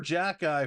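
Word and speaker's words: Xhekaj: rookies Arbor Jackie Arbor Jack eye for the Montreal fans by the way if you look at the last name how he spells it yes that is Jack eye I had to Google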